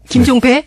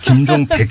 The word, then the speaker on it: 김종백: 자, 이 김종백 씨, 우리 지금부터 발음 조심합시다. 김종배? 네, 김종백 씨.